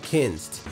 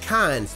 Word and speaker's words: Kinzd: from a company called kins now it may be pronounced cons but it spelled ki NZD that being said if